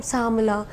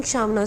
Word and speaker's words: Shamna: And akkada kuda audience kuda people used to call me, what's your name, Samala. They're not pronouncing Shamna.